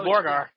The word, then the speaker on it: Zaborgar: zabogar zarar I can't it's spelled z a r b o zaborgar zaborgar why don't we watch the